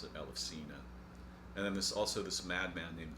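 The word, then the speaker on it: Ελευσίνα: the ancient Eleusinian mysteries, or as she would pronounce it, Elefsina.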